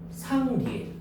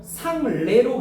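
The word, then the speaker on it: 상례: 그러면 이거 상레로 발음하면 돼? 안 된다는 거야. 알겠니? 자, 예자, 리에자 이외의 얘는 에로도 발음이 된다는 거야. 그러면 예의는 예고 상리에 할 때는 리에잖아. 이건 반드시 뭐야? 예자 발음을 해야 돼.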